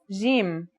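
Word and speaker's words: ج: Our first letter is jim. This one is easy to pronounce. It's somewhere between a G and a J depending on the accent.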